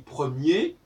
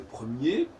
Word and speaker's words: premier: Par exemple, on dit premier, première. On n'entend pas le R du singulier de premier, parce que singulier masculin,